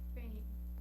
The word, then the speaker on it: 分: Não, é Fen. é o primeiro tom.